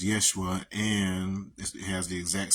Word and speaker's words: Yeshua: Okay, we don't need to get into semantics about how J's were Y's once upon a time, so they should be pronounced Yeshua, and it has the exact same meaning as Joshua.